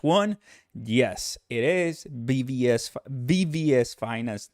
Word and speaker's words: VVS Finance: yes it is bvs VVS Finance not BBS Finance thank you for all